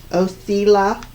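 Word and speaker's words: Othala: coming through with this room and it's called othela oseila is how it's pronounced all right so in its negative form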